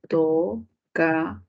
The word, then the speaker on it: tocador: Tocador, separación, tocador. Última sílaba con mayor fuerza de voz. Uy, palabra aguda, tocador.